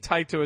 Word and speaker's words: Taito: we should jump into tight oh I believe tight oh is how you pronounce it we will talk about